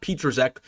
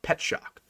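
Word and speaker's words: Petschauer: Cade Petschok, I learned how to pronounce his name. It's not Petruzek. It looks like it's called Petruzek. His name is pronounced Petschok.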